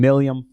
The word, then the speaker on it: Malleum: Today, I am sitting with Tyler Pearson from Malleum. Is that right? Close, but How do you say not it? so close. Malleum, Malleum, sorry. which is a It's Latin tough word for hammer.